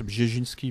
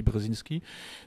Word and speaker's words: Brzezinski: La cybernétique, ce que Zbigniew Brzezinski, en polonais ça se prononce Brzezinski, mais si je dis Brzezinski, personne ne comprend, parce qu'en France on dit Brzezinski.